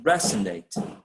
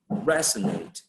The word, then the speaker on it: resonate: the first syllable okay resonate resonate would be the uh pronunciation that the i mean the stress primary stress will be placed on the first syllable in that particular word okay um in the